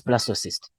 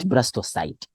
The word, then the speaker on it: blastocyst: blasto or blasto yes blastocyst so that's how we pronounce not brastocite yes they're saying that